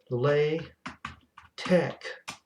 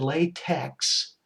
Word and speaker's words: LaTeX: packages these are um i will type it lay tech packages i can't save this because that would